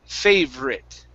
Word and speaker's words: favorite: you're saying favor okay we don't add an extra vowel sound so it's we remove it so it's fave writ favorite favorite ah favorite paper